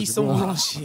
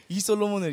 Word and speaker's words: 이솔로몬: 감정 잡아야 되는데 들어가기 전에 제 이름을 누가 되게 멋있게 소개를 해주셔가지고 이소몰론씨 이소몰론 제가 형을 늘 이소몰론으로 불러서 맞아 아 이게 입에 익어가지고 이솔로몬을 이소몰론이라고 읽어버렸네요.